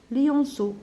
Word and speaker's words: lionceaux: Et les petits s'appellent les lionceaux. Alors, E-A-U, دايما نطقوها كيما الأو, lionceaux.